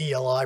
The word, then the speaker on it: Eli: We're representing, and we have with us tonight, we have the Rabbi Eli, spelled E-L-I, pronounced Eli, who is the person running the Chabad house directly across from Haverford College.